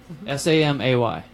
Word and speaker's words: Samay: supposed to be more like Samay, like Sambora. Okay. But I've always called him Rob Samay.